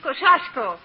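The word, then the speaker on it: Kościuszko: In Poland, we say his name Tadeusz Kosciuszko. But in America, Tadeusz Kosciuszko is fine. Jenna, please. Thank you, young lady. Tadeusz Kosciuszko. How's that? Very good. You say it like you're gonna sneeze, and you got it.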